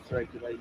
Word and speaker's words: Therapia Lane: This is Therapia Lane, yes.